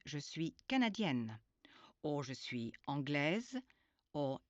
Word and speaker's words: canadienne: If you're a woman, the pronunciation of the ending of the word is emphasized. If you're a woman, you should be saying je suis canadienne, or je suis anglaise,